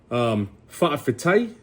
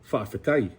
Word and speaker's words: fa'afetai: Oh, fa'afetai means thank you. I meant to say that. So using these two words, right? Fa'afetai, right? Sometimes you'll hear it as fa'afekai, right?